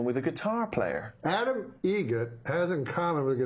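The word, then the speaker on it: Eget: Egret. Spelt differently. Like the bird. That's Egret. Do you know what Adam Egret has in common with a guitar player? Adam Egret has in common with a guitar player.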